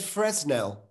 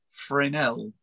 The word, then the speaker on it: Fresnel: But I got a how to say it phonetically guide here, which is Fresnel. And it does say Fresnel is how you say Fresnel.